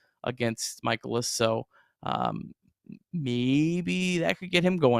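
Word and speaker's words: Mikolas: Michaelis.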